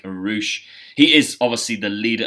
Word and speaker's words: Rush: than I have and Roush it spelled like rush but it sounds like Roush he is obviously the